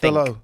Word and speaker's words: Dalot: Dello. But you don't pronounce the T, do you?